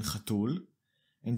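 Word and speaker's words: חתולה: on the masculine version chatul and just add the la. This is usually not the case. In the male version, the stress was on the tul, but now it is on the la, chatula.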